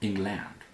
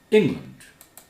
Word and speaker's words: England: Land, A-L-A-N-D at the end of a word is land, not land, not England. England.